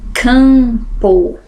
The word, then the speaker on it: campo: é aquele som nasal campo campo né eu tenho som eu só ouço um som nessas duas letrinhas Limpo vento tente eu